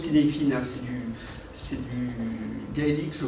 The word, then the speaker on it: Cynefin: Ça se prononce Cynefin, hein, c'est du gaélique, je crois.